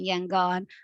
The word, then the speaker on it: Yangon: same city and historically the ya in yangon was so both are correct you might meet people who are saying no no no rangoon's wrong and it's colonial actually back then that was the right way to say it so names are problematic